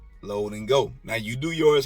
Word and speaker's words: Load N Go: it i've had to correct some people on the pronunciation of it low and go all right load and go now you do yours